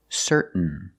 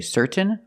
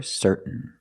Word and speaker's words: certain: a i n example certain certain you can say certain or certain but don't say certain it's certain what makes you certain